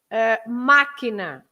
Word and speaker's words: máquina: So, but if you have an accent like in máquina, you say machine, máquina. You don't say máquina, right? It shouldn't be máquina. You have the accent on the a, so it máquina. So you stress that part.